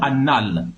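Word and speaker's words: An-Nahl: Sourate 16 verset 66 la sourate annal, moi je dis c'est a N- N A H L mais ça dit anal mais moi si tu prononces ça rapidement tu dis la sourate anal.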